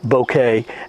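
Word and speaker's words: bokeh: it has a very strange and unique looking bouquet yes I looked it up that is the way it's pronounced and I'll show you that later with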